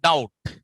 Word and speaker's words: doubt: And the other one, doubt. Doubt. Sakaya. Now, there you find B is silent. And the other one, comb. B is silent.